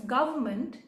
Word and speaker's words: government: pronouncing it it is the N is silent right so maybe because